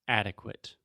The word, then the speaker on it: adequate: intermediate intermediate yes so a mistake that Alexia commits quite often and almost all my students is words that end in ate or ASE many many times we do not pronounce them as eight or Ace for example Alexia always says purchase purchase purchase intermediate intermediate adequate adequate delicate delicate there we go awesome and